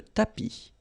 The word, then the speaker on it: tapis: Remember final S not pronounced. Le tapis.